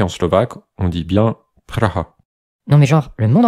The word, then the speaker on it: Praha: Et oui, c'est bien Praha. En général, la première fois que l'on entend prononcé de cette façon, ça fait quand même un peu bizarre.